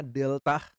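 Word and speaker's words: δέλτα: yunaninya hanya mengenal dulu bacanya Delta seperti pada kata dasi kemudian epsilon epsihlaun Ya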